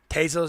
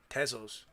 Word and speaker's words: Tezos: Tezos is correct pronounce. Tezos. I think it's Tezos. Sounds like pesos almost. So I'll just leave it at Tezos. It's like pesos but with a T instead of a P.